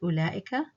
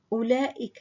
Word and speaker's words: أولئك: So what this means is that this letter here, the waw here, is written but not pronounced. It's a silent letter.